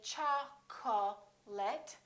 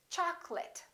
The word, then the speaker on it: chocolate: lot of people get wrong we don't say cha call let we say chocolate and remember don't say choc'late it's chocolate I'd like some chocolate in this